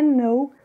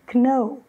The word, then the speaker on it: know: Por exemplo, a palavra know, que nós não pronunciamos o K, mas muitas vezes as pessoas, mesmo ouvindo que é know, falam know, pronunciando a letra K.